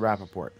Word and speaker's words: Rappaport: a previous appearance to make sure I pronounce the T, I did it right tonight, I would be shocked if you do not have an opinion on this, Mr. Rappaport.